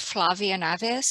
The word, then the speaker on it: Flavia Naes: you so much and my name um is pronounced Flavia Naes I'm originally from Brazil so it's not a